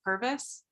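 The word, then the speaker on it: Purvis: And we are abley assisted today by our committee clerk and and please tell me if I'm saying your last name wrong. Is it Pervvis?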